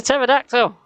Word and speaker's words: pterodactyl: a lock it's a pterodactyl and you know what you never hear pterodactyls go to the toilet because the p is silent so i stole that